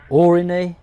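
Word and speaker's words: Aurigny: So I've got ATR 72, ADR mate, Guernsey, Is it Origny? Origny Air? I can never know how to pronounce it properly. Origny, silent G.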